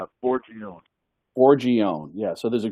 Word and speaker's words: Forgione: How do you pronounce his last name? Forgione.